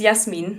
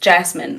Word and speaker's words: Yasmin: I didn't I didn't I don't like my name being pronounced Jasmine. Like um in English I like Yasmin.